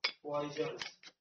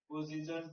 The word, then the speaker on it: position: হ্যাঁ, enhanced by their poison placed as they were between পয়জন নয়, পয়জন মানে বিষ। পজিশন, উচ্চারণ ঠিক কর, কিন্তু মানে হয়েছে অ্যাস্ট্রোলজার বিষ বিক্রি করতে, পরে তোর মাথায় ঢুকে যায়।